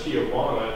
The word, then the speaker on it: Tijuana: So we come down here, so people write this as Tijuana, therefore pronounce it in Kumeyaay as Tijuan.